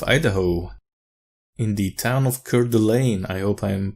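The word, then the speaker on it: Coeur d'Alene: great state of idaho in the town of curdulain i hope i'm pronouncing it right but yeah this dlc came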